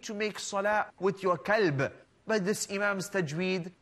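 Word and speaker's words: كلب: Qalb is the heart. And as for kalb, that is the dog.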